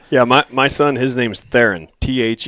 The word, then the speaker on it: Theron: up the whole yeah my son his name's Theron th e ro in the wrong Theron mm-hmm